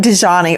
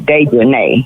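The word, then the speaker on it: Dejanae: It looks like Dejani or Dejanay. Her name is Dejanay. Yeah, that's Dejanay. It's Dejanay because it's got A-E on the end.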